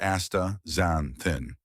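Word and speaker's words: astaxanthin: Aacanthin, pronounced Asta Xanthin.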